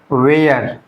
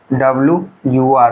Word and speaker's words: were: तो इसको हम लोग वेयर वेयर नहीं पढ़ना है, ये प्रोनाउंसिएशन गलत हो जाता है। तो इसको हम लोग क्या पढ़ेंगे बच्चों, वर, ऐसे WUR वर, ऐसे इसको वर पढ़ना है, ठीक है, वेयर, ये करेक्ट प्रोनाउंसिएशन हो जाता है।